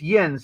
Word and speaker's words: yinz: plural of you is yin's you know how in in Jersey it's used and in the South it's y'all yeah Pittsburgh it's yens and it's literally spelled y-i-n-z so that's why they're